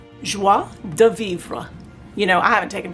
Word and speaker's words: joie de vivre: the website and the name of this kit is pronounced in french joi de vivre you know i haven't